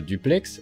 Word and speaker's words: Dupleix: certain joseph françois dupleix oui je sais bien qu'il y ait débat sur la prononciation en particulier du x mais l'usager un certain nombre d'arguments basé sur sa région d'origine faut que visiblement il fallait le prononcé ainsi même s'il y a aussi des arguments pour une prononciation différentes c'est donc joseph françois